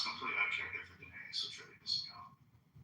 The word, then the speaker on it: Daenerys: I know, but I just want to but it's Daenerys. Daenerys, I had an extra syllable.